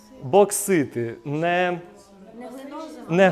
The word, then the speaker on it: боксити: Не боксити, а боксити.